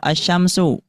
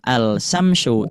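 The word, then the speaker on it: الشمس: Jadi lamnya tidak dibaca tetapi dimasukkan kepada huruf selanjutnya yaitu huruf syin. Berarti dibacanya bukan alsamsyu tapi asyamsu.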